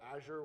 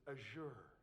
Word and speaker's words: Azure: By the way, that's how it's properly pronounced, and we get lectured on that. So if you call it Azure, we get in trouble. It's Azure.